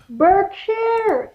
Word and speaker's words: Berkshire: Ko na yun Berkshire, England. Sa, ano, Oo. sa, malapit lang. Pero ang pronunciation nila, attorney, dyan isang bark. Parang A, no?